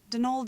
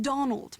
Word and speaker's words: Donal: Not Donald, mind you. There's no D at the end, so it's pronounced Donal. That's the way you're supposed to spell it, which is to say that's the way the Irish spell it.